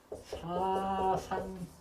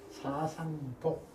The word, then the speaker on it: 사상보: 그런데 이걸 보통 사상부로 읽어요. 이건 안 돼요. 이건 부가 아니고 이건 보예요. 보라고 해야 맞아요. 이건 안 돼요. 사상보 이렇게 하면 돼요.